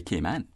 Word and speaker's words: Cayman: know the history of how we come to say k man and we say correctly mmm-hmm because we got